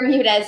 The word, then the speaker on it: Bermudez: hopefully, I'm pronouncing your name correctly right, Bermudez correct? S: Bermudez. Yep! That's right as the Bermuda Islands but with an EZ at the end.